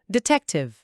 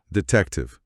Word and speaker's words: detective: E em velocidade normal, detective. Detective.